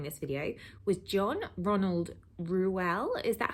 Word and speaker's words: Reuel: His full name, I didn't know this until doing this video, was John Ronald Reuel. Is that how you pronounce it?